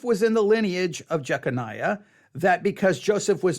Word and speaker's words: Jeconiah: that although Joseph was in the lineage of jeconiah that because Joseph was not Jesus physical father